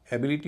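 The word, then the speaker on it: ability: करने की कोशिश करें आई टी वाई से पहले स्ट्रेस होगा और उससे पहले वाला सिलबल हल्का होगा यह क्लू है। इसके आधार पर पता करें। इसका उच्चारण एबिलिटी होगा।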